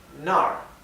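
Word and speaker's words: 那儿: hacia allá nar y es importante ver que acá es el tono descendente que es nar porque es importante porque nar significa allá yo voy allá ahora si pronunciamos esto con un tono diferente nar nar esto significa a dónde Entonces nar es allá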